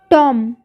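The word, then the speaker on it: tomb: टॉम, टॉम में बी का sound नहीं आता है।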